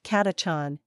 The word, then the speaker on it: Catachan: katachan pronounced catachon is the most infamous